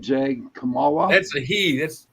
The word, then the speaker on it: Kamala: Kamala?